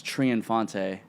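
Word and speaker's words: Triunfante: I get you because my last name is tree Infante so every like ever since I was a kid up until to this day people still can't spell it right unless you've known me for that long right how do you spell that TR I un F a NT e it's like the Spaniard way of saying triumphant make sense yeah that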